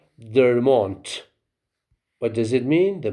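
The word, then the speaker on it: der Mond: now line three okay three genders masculine like dermont what does it mean the moon of course they you have to pronounce it their mon we write du and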